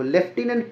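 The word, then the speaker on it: lieutenant: ए एन टी नहीं देखो लेफ्टिनेंट पढ़ते भले हैं लेकिन स्पेलिंग में एफ नहीं होता ऑप्शन नंबर बी बिल्कुल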